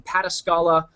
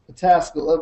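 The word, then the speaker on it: Pataskala: pastor at um Tri Village Christian Church in pescala Ohio did I pronounce that right Josh patasala but that was close Okay well close close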